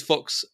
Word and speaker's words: Fuchs: pun out of something, you've got Cock versus Fuchs. So you could definitely do something with that. You could definitely do something with that. Because I was like, because his name's Fuchs, but obviously his name's Fuchs in German.